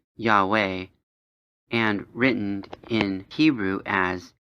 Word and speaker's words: Yahweh: below is the math for numerical values of pronounced yahweh and written in hebrew as four symbols if